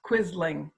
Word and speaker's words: Quisling: Okay, so it's pronounced Quisling, the Quisling factor.